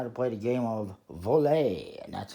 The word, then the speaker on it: Vole: looking at how to play the game of volley and that's how it is pronounced it is a game by Hoyle that